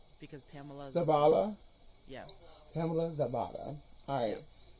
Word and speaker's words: Zabala: How do you It's pronounce your name? Zabala because Pamela's. Zabala?